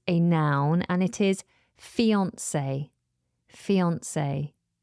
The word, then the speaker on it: fiancée: Next on the list is a noun, and it is fiancé. Fiancé. Now, fiancé is spelled Fiancee. But the first E in fiancé has that little accent above it.